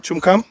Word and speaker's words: Tchumkam: Tchumkam. Is that how they pronounce the name? Tchumkam? Yes.